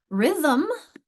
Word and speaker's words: rhythm: Rhythm, I only see 1 vowel, but rhythm, we've got that we've got there a syllabic M that throws us off for spelling.